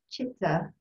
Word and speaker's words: chitta: chitta heart mind and the c is pronounced like cha chitta and i i i